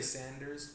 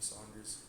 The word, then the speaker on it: Saunders: And Saunders, some people say Sanders, but it's actually Saunders with a U.